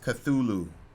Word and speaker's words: Cthulhu: call let me in by the way is pronounced Cthulhu I'm just gonna write line arts guy nard